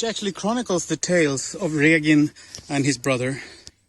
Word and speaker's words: Regin: But as far as pronunciation goes, it's Regin with the hard G and the long E, slightly wider E sound than in English, E.